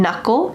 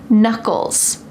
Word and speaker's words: knuckle: My thumb has one knuckle. Notice the K is silent, but my other fingers have two knuckles, knuckles.